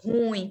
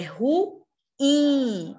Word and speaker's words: ruim: Mas vocês lembram que não é ruim, pessoal. É ruim. A sílaba tônica é in. É uma oxítona.